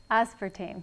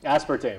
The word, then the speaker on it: aspartame: as we do is it how do you pronounce is it aspartam or aspartame aspartame aspartame okay yeah one of the uh uh artificial